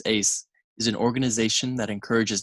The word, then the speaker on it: AESS: environmental studies and sciences abbreviated to aess pronounced as ace is an organization that